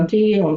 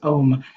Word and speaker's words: Om: and that word was Om, that word was Om, and it's spelled O-M, but it's pronounced A-U-M, and so we actually want to make all those three sounds, and then Shanti will